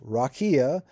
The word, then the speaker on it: rakia: The Hebrew word is rakia, pronounced rakia.